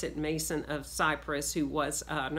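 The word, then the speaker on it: Mnason: it is spelled in the scripture and a pronounce it Mason of Cyprus who was an early disciples disciple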